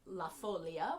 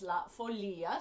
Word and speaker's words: La Folia: For much of my life, I have pronounced this La Folia, which you may also know it as that.